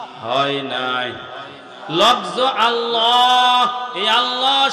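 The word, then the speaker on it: الله: নাই লফজ আল্লাহ এই আল্লাহ শব্দের মধ্যে এক আলিফ টান আছে লফজ আল্লাহ বলা হয়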